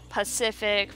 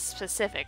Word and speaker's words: specific: from time to time like the running joke of my channel is Pacific versus specific I used to say just Pacific so the constraint pokes